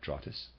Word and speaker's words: Drottes: spelled d ro t te s i am pronouncing that draw 'this and a reader's aside druids equals oak for this reason the Germanic peoples were said to receive their instructions beneath oak trees draw tiss or druids were ancient dramatic initiates they still